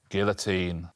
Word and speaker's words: guillotine: says val garry guillotine guillotine but with the correct french pronunciation which is very impressive gary guillotine and rose